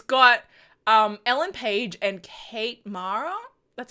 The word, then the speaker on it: Kate Mara: It's got Ellen Page and Kate Mara. That's how you say it. Kate Mara, right?